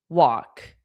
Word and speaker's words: walk: Well, walk is how you pronounce walk. So the this walk is pronounced as w o k.